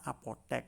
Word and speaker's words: apotek: Pengucapannya adalah "apotek", itulah fonologinya.